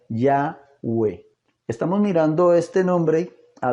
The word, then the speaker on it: Yahweh: dando como resultado que la pronunciación correcta del nombre sería yagüe estamos mirando este nombre